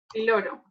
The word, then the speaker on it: píloro: Píloro. Píloro, muy bien. Píloro con tilde en la I, por eso lleva el acento en la I, se dice píloro.